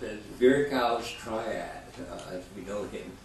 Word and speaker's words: Virchow: Westernized, I guess it's pronounced as Virchow's triad, as we know him, but it's Virchow.